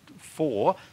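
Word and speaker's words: Hvar: They've got an island there called Four, which is spelled H-V-A-R. All right. And I don't know how they get the pronunciation Four.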